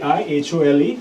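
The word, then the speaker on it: Aihole: as the I hole it's not a ye it is a I hol II so that's how you would pronounce it so I hole inscription it's in Karnataka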